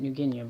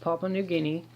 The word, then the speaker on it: Papua New Guinea: Papua New Guinea of New Guinea I always pronounced in New Guinean but it's pronounced Papua New Guinea which is right above Australia and if you